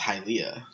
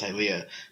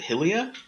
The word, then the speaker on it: Hylia: that I learned that all that stuff is pronounced hi Lea cuz its Skyward Sword goddess hi Lea yeah the goddess hylia oh well I'm a [